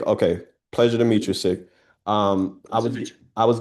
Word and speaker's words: Sig: Who do I have the pleasure of speaking It is You can call me Sig, S I G, Sig. Sig, okay. Pleasure to meet you, Sig.